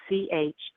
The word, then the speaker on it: Chamuel: Camuel. That's how I pronounce it. It's Chamuel.